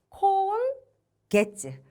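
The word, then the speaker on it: 今月: 이번에도 똑같이 게츠라고 읽을 건데요. 그럼 한번 읽어보실게요. 콘 게츠.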